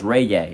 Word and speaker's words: reggae: Is it Reggie, honey? Reggae? Reggae? Reggae? Yep. Mariah said it's reggae.